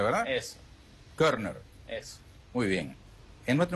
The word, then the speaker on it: Körner: Quisiera tus perspectivas después de la siguiente pausa, cuando volveremos con Körner. ¿Así? Eso. Muy bien. Körner. Eso. Así se pronuncia, ¿verdad? Eso. Körner.